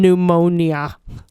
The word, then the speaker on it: pneumonia: pneumonia. Pneumonia. Pneumonia. Yeah, the P Yeah, is silent.